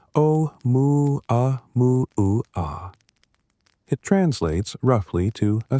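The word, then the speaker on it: ʻOumuamua: Um, mua mua, pronounced om mu a mu aa.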